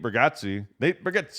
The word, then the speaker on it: Bargatze: It's like, man, I wish I was doing comedy back then, because you see, I saw recently, Nate Bargatze, he did that's the accurate pronunciation of his name.